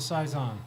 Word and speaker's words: Saison: am I saying it right that was a size on okay not not a Phil Susan but a